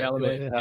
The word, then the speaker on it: Chalamet: I love when these actors immerse themselves like Timothy, is it Timothy Chalamet? Is that how you say it? Chalamet. Yep.